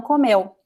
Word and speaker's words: comeu: So this is past tense, and in past tense, the stress is at the end. Oh, oops, that's not what I wanted to do.